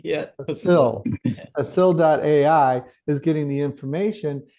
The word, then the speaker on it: facil.ai: So what um Keith and Danielle and Kimone just said is uh fasili I'm always saying it wrong like facility yeah facil.ai AI is getting the